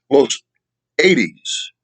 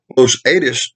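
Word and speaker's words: Los Adaes: a place called Los Los Ades. Now, I'm not sure if that's pronounced properly, so let me spell it for you. Los, Los, Adaes.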